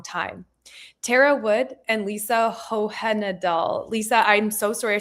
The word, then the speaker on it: Hohenadel: Tara Wood and Lisa Hohenadel. Lisa, I'm so sorry. I should have asked you before we started. Did I say your last name correctly? It's Hohenadel. It's okay. You said it the way it's spelled.